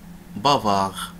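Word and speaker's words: bavard: بافار. بافار. ما كنطقوش هذيك دي، لا تنطق.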